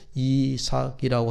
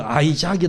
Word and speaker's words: 이삭: 아들이 누구예요 이삭이 있습니다 이삭 이삭이라고 하는 이름은 히브리 이름 그대로 발음 그대로 이삭이라고 하는 이름이에요 우리 말로 따로 이름이 없습니다 영어로 보면 그 이삭을 아이작이 이렇게 부르는데 히브리어로 이삭이라고 그렇게 불러요 근데 이삭의 히브리의 그